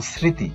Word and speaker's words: স্মৃতি: যেমন স্মৃতি এখানে ম উচ্চারণ হয়নি।